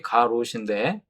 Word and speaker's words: 가룟: 어떻게 우리가 그걸 알 수 있냐 하면 먼저 이 가룟 유다라고 하는 이 이름을 보면 가룟 발음은 쉽게 가롯인데 표기는 이제 가룟 이렇게 됩니다.